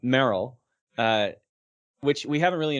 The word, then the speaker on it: Meryl: say marls marley's marvel's i think it's marl that's how it's pronounced um maryland english dub merrell yeah that's what it is i always pronounce the a wrong um merrell uh which we haven't